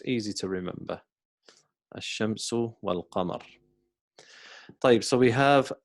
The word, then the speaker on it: الشمس: And the reason why these are called ash-shams is because the word, the letter sheen, we don't pronounce the alif, we say ash-shamsu, ash-shamsu.